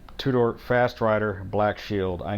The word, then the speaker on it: Tudor: fast rider i know i said it wrong earlier and it's the two-door fast rider black shield